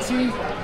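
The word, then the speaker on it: Yancy: and what's your name yans Jack sorry yans yansy is that right did I say it right okay good how do you spell that y a n c y would it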